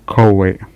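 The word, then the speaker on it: Coué: Questo dottore si chiamava Coe, no? C-O-U-E con l'accento, quindi era un dottorino che aveva trovato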